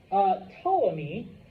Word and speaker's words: Ptolemy: As long as there's a silent P in there, and I can tell what you're trying to write, you're good. Okay. Now, Ptolemy ends up ruling Egypt and some of the lands around it.